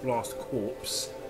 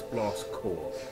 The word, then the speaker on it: Blast Corps: blast core and yeah that is how you actually pronounce the game it's not blast corpse as a title and the the way it spell would actually have you think it is no it's blast core think of it as